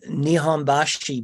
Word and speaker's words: Nihonbashi: positions, was that the Nihonbashi Bridge, I'm not probably pronouncing it correctly from a Japanese perspective. Nihonbashi, your pronunciation of Nihonbashi is very correct, clear.